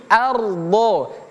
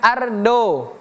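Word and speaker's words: أرض: Huruf dod ini huruf tebal dadi ardho ardho bukan ardo atau arda bukan tebal d huruf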